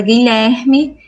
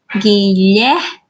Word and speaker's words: Guilherme: temos o Gui certo quando a gente fala a sílaba Gui vocês escutaram o som do G sim escutar o som do u não escutou o som do i sim então o g e o u é um dígrafo pois vocês estão vendo